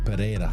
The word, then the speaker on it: Pereira: Yeah, Pereira.